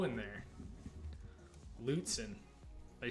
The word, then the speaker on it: Lutsen: I guess I'm pronouncing it wrong. They need to be a sponsor. I mean, the reality is they'll never sponsor because Lutzen. Lutzen. Use the U more.